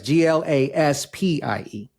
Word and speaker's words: Glaspie: People often don't know how to pronounce it or spell it once I say it. So that's right. It's Glaspie.